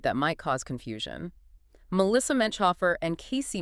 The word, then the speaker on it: Menchhofer: They are distant cousins, not directly related, and just so everyone knows, their last name is pronounced Menchhofer. Menchhofer.